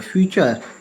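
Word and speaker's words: future: फ्यूचर, देखो फ्यूचर में देखिएगा, फ्यूचर टी साइलेंट हो गई।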